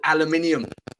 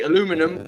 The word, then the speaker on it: aluminium: Alum alumin aluminum Al aluminium aluminium is that how y'all say it that's how we say it man you guys say aluminum we say wow I